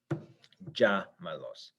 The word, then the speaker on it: llámalos: So our stressed syllable didn't move, but its relation to the end did. It changed. It was the second to last syllable, but now it's the third from last syllable, which means we need to write an accent mark. Llámalos. So we show the reader that this is the syllable that is stressed.